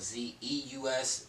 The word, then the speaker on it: Zues: Is Zues, and it's not spelled Z-E-U-S, it's spelled Z-U-E-S. And I did that because people call me, and then the U-E-S, it kind of looks like, so it's like Zeus.